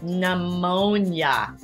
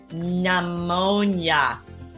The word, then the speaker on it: pneumonia: last so look carefully pneumonia pneumonia we do not pronounce that initial p but yes when you're writing it you must write that initial key pneumonia an illness you don't